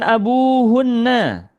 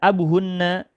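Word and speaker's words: أبوهنّ: Jadinya abu panjang pengucapannya. Tidak abuhunna tapi abunya panjang. Abuhunna man abuhunna. Siapa sih ayahnya mereka itu?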